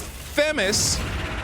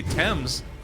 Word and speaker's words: Thames: way i disagree because themis is incorrect or femmes i would even say that before i'd say thames i had to train